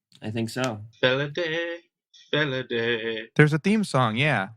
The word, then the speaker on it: Felidae: Felidae. I think so. Felidae. There's a theme song, yeah. We have a song in this case to tell us how to pronounce the title.